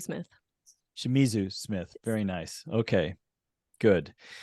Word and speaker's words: Shimizu: have with us uh another great expert R shitzu Smith did I pronounce that correct it's good enough hello enough